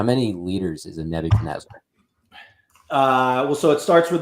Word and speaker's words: Nebuchadnezzar: A Nebuchadnezzar?